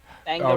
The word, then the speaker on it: Bangaranga: How does it pronounced? Bangaranga.